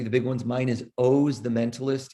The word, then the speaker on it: Oz: big ones mine is owes the mentalist it looks like oz like the wizard of it's an unusual pronunciation but so it's o z the mentalist you'll find